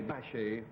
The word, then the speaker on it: Bachet: Bachet, first syllable, from Paris.